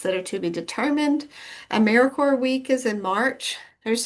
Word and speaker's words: AmeriCorps: So Americaore is Americanore like Marine Corps or core of an apple. It's not America corpse.